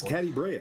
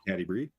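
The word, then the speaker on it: Catti-brie: So it's Caddy Brea, not Caddy Bree.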